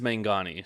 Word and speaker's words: Mangani: of your last name is it mangani Mangini I apologize if I mispronounced maybe maybe I should put that in there but it is mangani so yeah manani okay